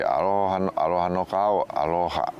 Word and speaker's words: aloha: And sometimes that first a is emphasized, but we don't write a line on the top of it. Sometimes in greeting people maybe say aloha aloha.